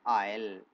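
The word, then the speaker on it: I'll: और यहाँ आई और विल दोनों एक साथ रहेंगे तो प्रोनाउंसिएशन हो जाएगा आयल।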